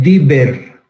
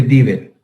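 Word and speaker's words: Deaver: Se conoce con el nombre de, se dice Dieber, se escribe de Haber, pero se dice Dieber.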